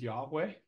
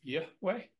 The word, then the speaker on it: Yahweh: it as Jehovah or have you heard it pronounced as yahe if you actually pronounce it correctly it's y way or something along those lines now granted I'm